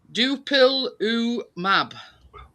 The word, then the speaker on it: dupilumab: Dupilumab. All right, yeah, Dupilumab. And that treats eczema. No. Dupilumab. D-O-O, pill, P-I-L-U-E, mab. M-A-B.